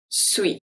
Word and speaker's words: suis: Je suis. Je. Je. The E is pronounced as a E. Suis. Suis. Suis. This one, the UI is pronounced as a W et WI.